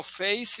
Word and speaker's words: face: Eh, Rafa, no, face is not pronounced as a Z. Z has a vibration. Z, Z has a vibration, and it's like the word zoo, television, that's different, okay? Good? Yeah, it's not Z.